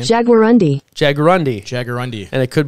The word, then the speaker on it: jaguarundi: Margay, jaguarundis. Is that how you say it? Jaguarundi. It's like jaguar and undies.